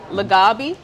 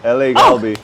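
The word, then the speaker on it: LA갈비: These kits are legit, especially the bulgogi, and I'm gonna kill the name, but I'm gonna say it anyway. Lagabi. Yep. Did I say it right? Galbi, yep. LA Galbi.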